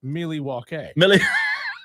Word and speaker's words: Milwaukee: they are a good team Pacers bucks diesel Milwaukee is a one of the Half Point favorite I'll tell you this it's pronounced milwa which in Al gonin I like that better